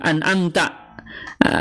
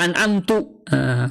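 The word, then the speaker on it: أنعمت: Ternyata kita rubah an'amtu. Kenapa? Ya karena merubah makna. An'amta yang telah engkau berikan nikmat, an'amtu yang aku berikan nikmat. Nah, ini beda makna, maka beda pengucapan, maka beda makna, akhirnya batal sholatnya kalau sengaja begitu dan dia tahu arti dan maknanya ya, kemudian dia ucapan itu, maka batal sholatnya.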